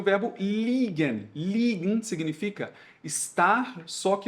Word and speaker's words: liegen: Assim como nós temos o verbo legen, cuidado com a pronúncia, que é e aqui é i. Nós temos também o verbo liegen.